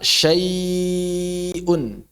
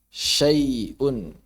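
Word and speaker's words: شَيْءٌ: Ada waw sukun sebelumnya fathah, ada ya sukun sebelumnya fathah, setelahnya hamzah, maka hamzahnya harus diucapkan dengan jelas. Contoh, sau, enggak. Berarti ini apa namanya? Fathah ya sebelumnya ya. Berarti enggak bisa su. Contohnya apa? Kalau ya syai'un. Syai'un. Syai'un. Syai'un. Itu contohnya. Ya.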